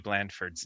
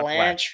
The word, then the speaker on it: Blandford: have been pronouncing Matthew Blandford's name. Oh It's boy. Blandford, not Blanche.